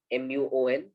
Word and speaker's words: muon: for example move on a muon or a muon m-u-o-n i think muon is our how i will pronounce it the muon is a